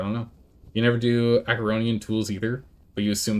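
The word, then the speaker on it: Acheronian: Or 14 per swing, but the Ericonian... Arconian... I don't remember. I don't know how it's pronounced. Acaronian. It's Acaronian. That's how it's pronounced.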